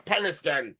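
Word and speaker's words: Penistone: However, those five uh letters are not pronounced like the body part names. It's Penniston.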